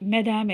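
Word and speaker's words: mesdames: அடுத்தபடி இப்படியும் சொல்லலாம், மெதாம் ஏ மெஸ்யூன்னு சொல்லலாம். இப்போ இதில் பார்த்தீங்கன்னா அந்த மெதாமில் வந்து எஸ் இருக்குது நடுவில் இல்லையா? அந்த எஸ் இருக்குது பாருங்கள். இதை வந்து நம்ம ப்ரொனவுன்ஸ் பண்ண மாட்டேங்கிறோம்.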